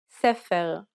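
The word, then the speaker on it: ספר: Medaberet, sefer, tapuach.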